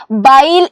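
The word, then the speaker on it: बैल: എന്നാണ് പറയുന്നത് എന്താണ് പറയുന്നത് ബൈൽ എന്നാണ് ബ ഇടുക മുകളിൽ ഒരു രണ്ട് വരയിട്ടാൽ എന്തായിരിക്കും അത് ഐ എന്നുള്ള സൗണ്ട് ആയി അല്ലേ അപ്പൊ ഇതെന്താണ് ബൈൽ എന്നുള്ള സൗണ്ട് ആണ് ബൈൽ കാൾ അല്ലേ ഓക്കേ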